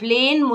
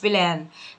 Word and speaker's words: plain: حرف الاي في اتنين متحركين تبقى لونج، فبتكتب ايه وتنطق ايه، بتتنطق زي ما بتتكتب تبقى plain مش بلان.